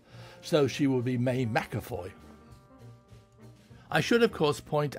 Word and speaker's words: McAvoy: director always called her Mack award but this doesn't seem very likely in that V is not pronounced W in German it has been as F so she will be May mcafoy I should of course